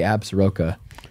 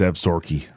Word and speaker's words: Absaroka: When I was filming Cliff doing the butchering, he didn't say Absaroka. Absaroka. He said, I think that. That's how it's pronounced. All right, it's Absaroka.